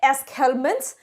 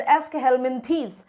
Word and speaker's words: Aschelminthes: हैं उसका नाम है Aschelminths, जिसे Nemathelminths के नाम से भी जाना जाता है. कई लोग इसे pronounce करते हैं as Aschelminthes and Nemathelminthes.